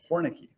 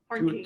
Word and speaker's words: Hornke: So Hornicky. Is that right? Hornky. Hornkey. Hornky. Two syllables.